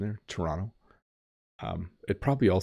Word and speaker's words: Toronto: Big um so that was a more proper pronunciation there Toronto um it probably all sounds the same to